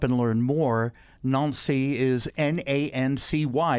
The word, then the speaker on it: Nancy: idea to come here to represent my town nancy and as an artist of course but also